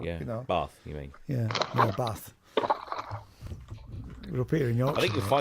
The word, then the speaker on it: Bath: Yeah, Bath. We're up here in Yorkshire. I think you'll find the locals pronounce it Bath.